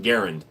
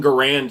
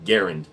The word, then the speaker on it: Garand: The creator of the M1 Garand was, it's pronounced Garand. Everybody says I'm Garand here in the United States, but it's actually Garand.